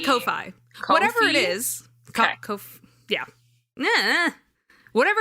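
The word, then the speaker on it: Ko-fi: fine no kofi but i don't actually know how you pronounce this website's name it's ko hyphen fi i would say kofi kofi that's what i thought too but then why they say buy me coffee but it's kofi but it looks like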